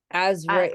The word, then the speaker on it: Azrael: Azrael.